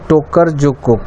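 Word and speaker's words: Tokarczuk: तो मान Booker international price के विनर 2018 के जो थे ओल्गा की, इसका प्रोनाउंसिएशन देख लीजिए, टोकर जुकुक।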